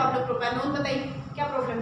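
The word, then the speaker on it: propanone: बट मैं बोलती हूँ स्पेलिंग करेक्शन मतलब बिल्कुल भी मिस्टेक ना हो, इसलिए मैं हमेशा प्रोनाउंस करने लगाती हूँ प्रोपेन 1। एक्चुअली करेक्ट प्रोनाउंसिएशन या करेक्ट ये जो है प्रोपेनोन है, ठीक है।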